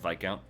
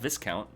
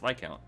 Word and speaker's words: Viscount: Yes, it's pronounced Viscount. It's not Viscount. That sounds weird. It's Viscount.